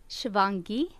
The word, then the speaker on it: Shivangi: Is it Shivangi? Is that how you say her name? Shivangi.